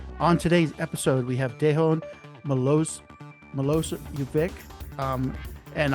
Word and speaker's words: Dejan: one for me thanks Chris my name is Deon and you you're pretty good I mean